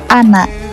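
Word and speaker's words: أنا: Jadi alif pada kata ana tidak dibaca.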